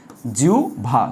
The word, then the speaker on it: জিহ্বা: আমি লিখলাম জিহ্বা, তোমরা অনেকে জিহ্বা বলো, না ভুল।